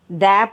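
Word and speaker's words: दो: Next நம்பரை தோ த போடுறோம், நெடில் தா போட்டு மேலே ஒரு கொம்பு போடுறோம், தோ. நெக்ஸ்ட்டு ஒன் தீன் ஃபஸ்ட்டு த, அதில் நெடில் தீ இன் சின்ன போடும், தீன்.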